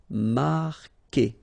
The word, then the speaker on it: marquer: Okay, Q-U together, it's only the sound K. K. Marquer. Don't pronounce the U.